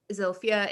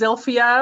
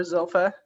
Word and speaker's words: Zilphia: telling us like who zofia is and actually if i am mispronouncing her name and where the emphasis is um i believe it's zilphia although some uh her sister called her zolfa um so uh you